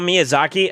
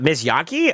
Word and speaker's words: Miyazaki: Uh, double check your spelling on Miss Yaki. Is that Is that how you say it? Are you talking about like Spirited Away and stuff? I think you meant to say Miyazaki.